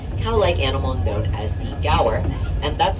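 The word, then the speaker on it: gaur: In that huge pasture, we'll be on the lookout for a very large cow-like animal known as the Gower. And that's spelled G A U R in case you are curious.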